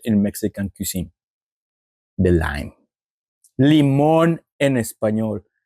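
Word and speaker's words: limón: here in in Mexico is called lemon l i m o Accent on the o n lemon there's the accent if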